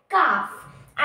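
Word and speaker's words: calf: एंटीलो इसके बेबी को हम क्या कहते हैं काफ एंटीलो की स्पेलिंग होती है ए एन टी ई एल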